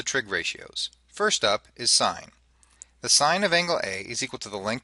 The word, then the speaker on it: sin: s n but do do not pronounce it as Sin unless you want to drive your teacher crazy and or you want to sound illiterate it is still sign if you say you